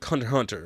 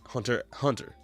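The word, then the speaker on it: Hunter × Hunter: Just like Hunter Hunter, right? You don't say the X in Hunter Hunter.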